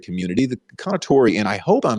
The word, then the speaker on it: Kounotori: learn a lot a little bit about the konatori community the conatori and i hope i'm saying it right and